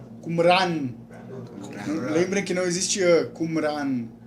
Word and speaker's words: Qumran: Vamos falar o nome do lugar, só para aceitar a pronúncia. Qumran. Qumran.